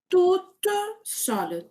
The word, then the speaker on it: toute seule: Je prononce le T aussi, hein, parce que c'est féminin. Donc, je vais dire je fais toute seule, toute seule.